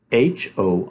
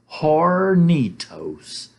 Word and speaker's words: Hornitos: H-O-R-N-I-T-O-S, Hornitos, Hornitos, the H is silent, Hornitos, tequila mixed with Coca-Cola.